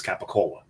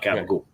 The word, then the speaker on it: capicola: It's not gabagool. And you don't even, if you say it right, if you say it Brooklyn, now it's not Italian by any means, because in Italy it's capicola. Yeah, they're gonna look at